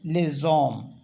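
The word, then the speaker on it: les hommes: लगाएंगे ओम है ना तो इसको एक साथ इसलिए पढ़ेंगे क्योंकि ये जो है एक तो साइलेंट जो है एच साइलेंट है और ओ से स्टार्ट हो रहा है ये समझ लो आप तो इसको पढ़ेंगे लेजम लेजम इसी तरह से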